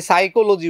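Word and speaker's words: psychology: কিভাবে এটাকে উচ্চারণ করতে হবে? আমরা যদি সাইকোলজি বলি কেউ যদি সাইকোলজি বানান আগে না পড়ে থাকে তাহলে সে ভাববে সাইকোলজি মানে এস দিয়ে শুরু হবে।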